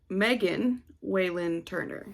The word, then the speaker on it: Megan Whalen Turner: right the thief by megan waylynn turner that is her name megan not mary megan whalen turner um i